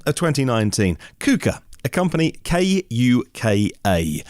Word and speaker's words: KUKA: In the fourth quarter of 2019, KUKA, a company K-U-K-A, I think I would pronounce them KUKA.